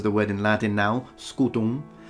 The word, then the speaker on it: scutum: I think everyone knows the word in Latin now, scutum, with the M that is nasalized, if you really want to go for classical pronunciation. So really, scutum, but the M is almost not there.